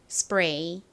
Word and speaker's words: spray: 나나요 a 소리가 나죠 그래서 읽어보면 스가 됩니다 spray S 뒤에가 왔을 때에는 SD K 왔을 때처럼 된 소리로 발음이 나서 쌍비읍처럼 브 소리가 나죠 그리고 아래